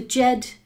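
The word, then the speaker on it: Djed: Jed, by the way, sorry, is spelled D-J-E-D. That's it. D-J-E-D. Jed, as in the Jedi.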